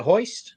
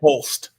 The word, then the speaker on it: Holst: Is it Hoist? How do you say it? Holst. It's an L.